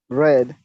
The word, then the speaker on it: read: what is the pasta of read red red listen the pronunciation here read present read past read read read red excellent what about listen